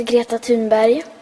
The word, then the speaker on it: Greta Thunberg: I'm going to let you listen to her pronounce her own name here. My name is Greta Thunberg.